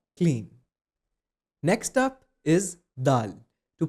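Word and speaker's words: دال: Next up is dal. To pronounce it correctly, just say the English article da and add al sound to it. It's going to give you dal.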